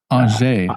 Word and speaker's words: Angers: PhD in economic science from the University of Angers. Angers.